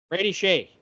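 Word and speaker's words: Brady Skjei: Brady Shea.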